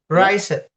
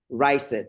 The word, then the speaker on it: raised: Raised. Yeah. So, exactly what I heard last time. Raised. No, we don't pronounce it like that. We pronounce it raised without any without any uh any ed.